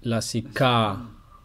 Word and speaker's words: Lasika: time it is the big A, the long Cette fois c'est pronounced A, un grand lassika. a. Donc on dit lasika, Lassika puzzle.